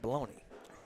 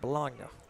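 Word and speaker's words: bologna: very good Mr Maloney well baloney I call it baloney and you call it bolog oh I've been down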